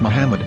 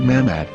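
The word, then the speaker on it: מחמד: According to Ben Yehuda's Hebrew English dictionary, it is correctly pronounced as Muhammad, not Mammad.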